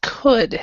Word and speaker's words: could: remember this this word coou l d is could so the L is silent here so these words could would there's this L there and it is silent so we would say could and would good could would okay